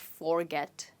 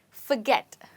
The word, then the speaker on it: forget: you say this word it's not forget but forget you know the furry cat the word fur right so that's the same word that you're using here you're saying forget forget and where do you think my stress is well the stress in this word is on get okay let's look at